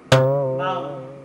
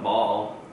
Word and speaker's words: bowl: It's not ball.